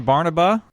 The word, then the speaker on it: Barnaba: Today we have a very special guest, Ron Barnaba. Ron, did I pronounce that correctly?